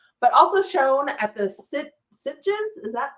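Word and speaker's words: Sitges: at Fantastic Fest but also shown at the sit sites is that how you say it something like that it's situs yeah okay earning a nomination for best motion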